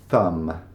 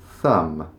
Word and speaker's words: thumb: Thumb. Thumb. There's a few things to trip us up in this word. Thumb. We don't need to pronounce the B on the end. Kind of like lamb.